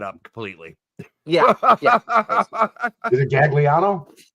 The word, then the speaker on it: Gagliano: Is it Gagliano? So it's actually, so phonetically, you are correct. However, it is Gagliano. Gagliano. Okay. Yep, Gagliano. All right. Yeah, so the second G's kind of silent in it.